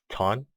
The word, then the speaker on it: Thanh: My name is Ton. It's pronounced like wonton, the food, except without the won, the first part.